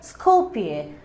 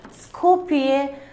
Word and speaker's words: Skopje: Look here, Skopje. This J will not be pronounced. It will be silent. Skopje, Macedonia.